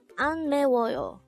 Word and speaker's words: 안매워요: hango where number 253 ano this is pronounced as a four syllable word the first syllable is